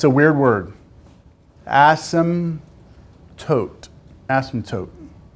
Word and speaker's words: asymptote: weird word awesome tote asymptote the p is silent asymptote vertical because it's a